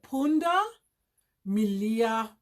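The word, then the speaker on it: punda milia: stripes stripes pooned Amelia so here we can pronounce it pon da Melia striped donkey and that's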